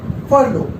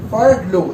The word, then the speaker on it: furlough: Now let's talk about the other term, that is furlough. How do you pronounce it? Furlough.